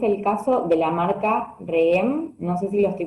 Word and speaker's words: Rheem: IGA, ¿cómo es el caso de la marca REEM? No sé si lo estoy pronunciando bien.